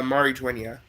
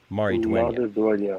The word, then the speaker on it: Maridueña: How do you pronounce his last name? It's Maridueña. Maridueña.